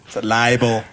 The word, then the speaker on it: libel: insanely all damn it libel it's the Bibble no he's right it's the Bibble not the Buddy change enunciation later liable rhymes with Bible all right here we